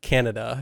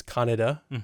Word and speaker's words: Kaneda: And even in the original dub, they were like Canada. It's like Canada the whole time. And you're like, well, his name's Kaneda.